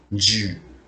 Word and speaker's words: 十: The onyomi reading is mean ju, and the kunyomi means to or to, and it has the meaning of 10.